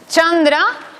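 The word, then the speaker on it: चन्द्र: Por tanto, es una sola C que se pronuncia pues, como en italiano chita. ¿Vale? Entonces, chandra, que es luna, con una C, chakra, que es rueda, con una C.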